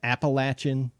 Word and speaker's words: Appalachian: And I'm going to say it right, the Appalachian. That feels weird saying it that way. I know that's the way you're supposed to, but it's the Appalachian Drifter.